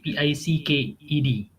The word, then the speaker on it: picked: picked uh pic picked remember um one if there is s or d at the end of any word we must stress on that s and d so that your listeners and i can also hear it so pick picked picked